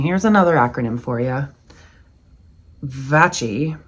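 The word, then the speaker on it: VACI: Vachi, V a CI. Vitally absorbing creative interest. We pronounce it vouchi because we've decided it's Latin, I guess.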